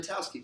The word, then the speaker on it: Knitowski: Knitowski, just like knitting, so don't pronounce the K.